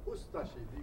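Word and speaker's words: Ustaše: We pronounce it Ustashi. We pronounce the U and de-emphasize the Ashi.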